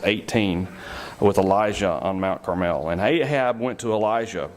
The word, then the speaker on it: Carmel: And I say Carmel, some say Carmel. I looked up and it says the exact right definition, the way to pronounce it is Carmel. So I'm going to say Carmel.